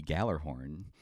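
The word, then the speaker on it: Gjallarhorn: Yeah, that horn is called the Galler horn. Is it? The official name of it? Yes. I also have a. Well, I don't like the Galler horn. It's spelled with a G and then a J.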